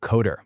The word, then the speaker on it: Qoder: It's a new platform called Coder. That's spelled Q Der.